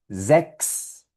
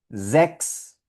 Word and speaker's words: sechs: Mira, por aquí la primera palabra con esta combinación CHS suena sechs, sechs, que es el número 6 en alemán.